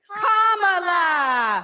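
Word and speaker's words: Kamala: do you pronounce it first you say comma like a comma in a sentence then you say la like la la la la la put it together and it's one two three commala all right so let's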